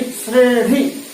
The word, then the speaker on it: श्रेणी: फिर हमारे पास तीसरा आता है श्रेणी, श्रेणी, श्रेणी, ऐसा प्रोनाउंसिएशन थोड़ा ध्यान देंगे, श्रेणी।